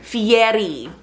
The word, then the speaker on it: Fieri: Fieri. Roll your R's.